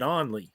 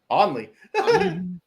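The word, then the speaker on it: Olney: street here called that but down here we pronounce it on Le onle even though it's O It's onle yep they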